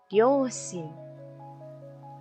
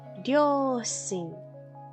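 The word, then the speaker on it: 両親: Ryoshin. ¿Sí? Ryoshin. Cuidado con el no es ryo, no, eso no existe, es ryoshin, así sencillo.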